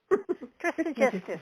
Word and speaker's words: Trismegistus: Trismegistus, yes.